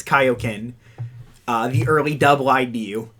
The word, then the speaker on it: Kaioken: one of the most iconic kokens but they're kaiokens it's supposed to pronounce kaioken uh the early double ibu it's supposed to be pronounced kaioken but it's got like one of the it's